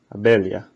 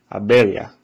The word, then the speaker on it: abelha: So the L and the H actually sort of combine to make a very strange sound. Abelha.